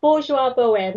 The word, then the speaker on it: Bourgeois Boheme: Close enough, Bourgeois Boheme.